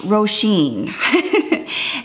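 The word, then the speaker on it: Roisin: I don't know if you can see cuz it's that cool black on black, but it's pronounced Roshene.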